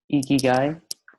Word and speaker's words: Ikigai: Ikigai, pronounced correctly.